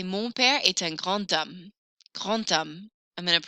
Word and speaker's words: grand homme: I'm going to hear that letter D a little bit more here because I don't pronounce the H.